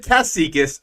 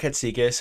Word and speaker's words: Katsikas: So I'm Katsikas, or Katsikas. People always struggle with that one. 5 syllables. Five syllables.